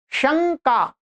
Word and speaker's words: शंका: शं का आप बार-बार उच्चारण एकाग्र हो के सुनिए अपना तो आपको यहां पर अनुस्वार की ध्वनि सुनिए सुनाई नहीं देगी श्रवण नहीं देगी आपको क्या देगी आपको म की ध्वनि सुनाई सुनाई देगी ठीक है चलिएगा ये